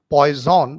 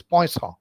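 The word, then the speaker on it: Poisson: is called Poison's equation it is a French pronunciation it is not pronounced as poon but it is poon and uh just to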